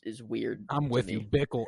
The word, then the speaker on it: Bickle: I'm with you, Bickle. It's because it rhymes with pickle, but it's not pickle.